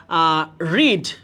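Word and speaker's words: read: দেখো ভাইয়া কয়েকটা নাম দিই ভার্বের, যেমন ধরো হচ্ছে কাট, পুট খুবই কমন যেগুলা, কস্ট, বার্স্ট, তারপর হচ্ছে যে রিড, এই পাঁচটা খুবই কমন, খুবই কমন।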